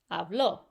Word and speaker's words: hablo: you're speaking in Spanish if there are no accents on there you're always going to put the emphasis on the second to last vowel if they want you to do it differently they're going to put an accent on there to let you know